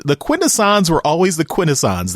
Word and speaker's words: Quintesson: quintessons were always the quintessons they were never the quintessence and you know I just had to say shame on you cyberverse writers for for pretending that there's some debate about how to properly pronounce it it's never been quintessence if any of them